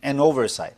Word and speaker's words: Noversight: Ben Toner here is the creator of an application called Is it Noversight? That how you say it, or you say N-Oversight? N-Oversight. N-Oversight.